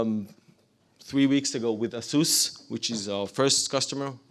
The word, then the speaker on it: Asus: three weeks ago with Asus which is our first customer or Asus as they as they are pronounced in the states and they have actually